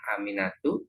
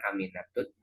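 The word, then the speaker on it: أمينةُ: Ya, Aminatu, bacanya Aminatu ya Bu, jangan Aminatut.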